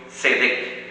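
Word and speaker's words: צדק: No estoy seguro si la pronunciación sea la correcta, sería con una T al principio, tzedek.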